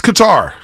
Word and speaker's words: Qatar: uh i don't know pronounced both ways qatar right it's qatar i hope i got there let's get to our airlines okay not cater right that's where the whole